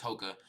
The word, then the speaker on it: Hoka: It's I'm I'm Yeah, I'm pretty sure it's Hokah.